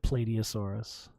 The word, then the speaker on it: Plateosaurus: about this thing, yeah, Plateosaurus. Let's see if I can find a picture of one. Plateosaurus. Grimnir would definitely support any effort that Bruce is making to tame the dinosaur. Some pronounce it Platiosaurus.